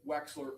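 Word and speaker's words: Wechsler: And that's one of se of of the several subtests of the Wexler. Correct. I want to say it correctly. That would be the waist the Waxler adult intelligence scale.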